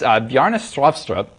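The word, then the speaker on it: Bjarne Stroustrup: pronounce his name it's yarnís lobster up I've been told that the way to pronounce this is to say strew syrup with a Norwegian accent while cramming a potato down your throat I'll just get it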